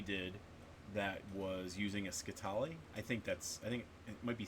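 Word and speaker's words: scytale: that was using a skitali. I think it might be skittily. I think it actually rhymes with Italy.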